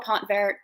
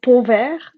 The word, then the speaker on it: Pontvert: your last name Michelle if you understand French about it it's povert but is fine yeah